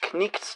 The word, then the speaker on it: Knight's: And that's around lines 2453 or so in the Knight's Tale, the Knecht's Tale, and yeah, that K does get pronounced, just like in Monty Python's Holy Grail.